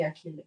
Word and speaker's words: Achille: Is that CH? Yeah, CH. Yeah. Oh, sorry, it would be Achille.